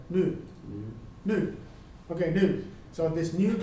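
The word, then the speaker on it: ν: So, how you pronounce this letter? Nu.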